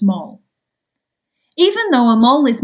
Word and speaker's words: mol: is spelled m Mo it's still pronounced mole even though a mole